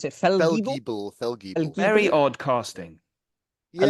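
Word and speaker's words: Fellgiebel: I do have a slight issue with Eddie Izzard as General Eric how do you pronounce it? Feldgiebel.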